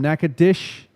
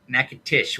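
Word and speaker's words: Natchitoches: Doug will likely be on the road back from Nacadish. Natish with a T.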